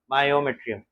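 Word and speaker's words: myometrium: middle layer it is called as मायोमेट्रियम एम वाई ममेट्रियम मायोमेट्रियम A silent रहता है ए रहता नहीं पर पढ़ते समय एम ए वायु यू करते हैं इट इज मस्कुलर इन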